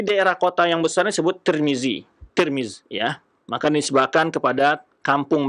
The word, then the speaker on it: Tirmidzi: Tirmiz itu berbeda-beda cara baca. Ada yang baca Tirmiz dengan baris di bawah tanya, ada yang baris di atas Tarmizi, Tirmizi atau Turmuz. Tapi yang masyhur dibaca adalah Tirmiz.